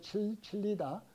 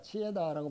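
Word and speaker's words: Chillida: 여행한다라고 하는 에두아르도 치에다 혹은 영어로는 칠리다 스페인 사람이니까 치에다라고 발음하는데 치에다는 우리 몸과 정신의 관계를 어떻게 이해하느냐 하면 속도로 합니다.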